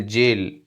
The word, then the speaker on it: gaol: और दूसरे में देखें GAOL, जेल, ये प्रिजन। इस स्पेलिंग को भी फ्रेंड्स देख ले, ये भी एक बार एग्जाम में आई थी। GAOL, जेल।